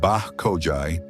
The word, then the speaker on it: Báxoje: The ethnonym Báxoje, pronounced Báxoje, translates most frequently to